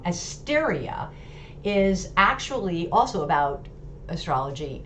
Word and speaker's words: Asteria: a degree so that australia which asteria sorry i keep saying it wrong asteria is actually also about